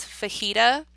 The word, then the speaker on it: fajita: So the J is actually silent. So the way that I would phonetically spell that to remember how to say it properly might look something like F-A-H-E-E-T-A. Fajita. And that will help you